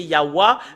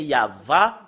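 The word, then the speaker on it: יהוה: la vérité c'est euh normalement d'après les Européens c'est ywa mais si nous revenons à l'hébreu ancien c'est yava le prononce la prononciation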